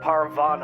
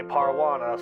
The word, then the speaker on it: Parvana: in this stupid video instead of shersa i say cher say instead of aisling i say ashley instead of parvana i say parwana so i'm really sorry i'm